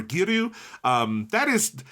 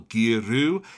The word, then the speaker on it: Giru: Japanese actors say it, it doesn't sound like they're emphasizing a 2-syllable Giru. It sounds like the Ru is an L.